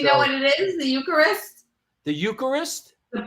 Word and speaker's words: Eucharist: Um, echarus. Echarist. Eucharist.